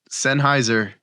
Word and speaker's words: Sennheiser: could not tell you there's Sennheiser is that how you say it yes that's